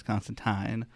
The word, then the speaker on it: Constantine: His name is Constantine. They actually call it out several times throughout the comics. You know That's that makes fun. sense though because they don't like that E sound.